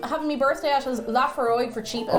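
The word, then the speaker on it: Laphroaig: Lafroig, aye. Lafroig. Okay, I put an extra syllable in the middle for no good reason.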